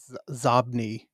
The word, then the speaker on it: Xobni: Okay, so it's spelled Xobni, which is inbox spelled backward. Zobni is probably how you say it.